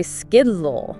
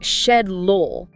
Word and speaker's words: schedule: Americans usually say skidlol. Skidlol. But in Britain, they say shedlol.